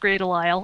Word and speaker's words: Grey DeLisle: Yeah, it really is pronounced Grey Delisle.